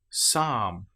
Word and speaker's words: psalm: Psychology, psalm. Here we don't pronounce the P at all. We just pronounce the S sound.